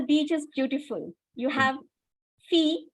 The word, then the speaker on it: fille: La fille, you don't pronounce the double L.